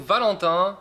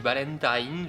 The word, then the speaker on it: Valentin: Je m'appelle donc Valentin, on me surnomme pour les japonais, et quand je me présente en japonais, je dis Valentine. Je sais que c'est pas juste phonétiquement, c'est la prononciation anglaise de Valentin.